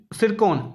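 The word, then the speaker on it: Tsirkon: है hypersonic missile त्र सरकन सिरको basically T silent इस विच सिर कोन सिरको नाम द जड़ी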